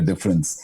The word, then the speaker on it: d'frens: uh dfr NS but pronounced as difference as in making a difference so that's that's our